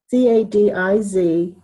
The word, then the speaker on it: Cadiz: des kentucky january yeah c-a-d-i-z they pronounce it cadiz like the city in spain and it is it